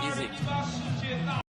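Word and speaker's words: ISEG: Spelled I-S-E-G, but pronounced Isaac.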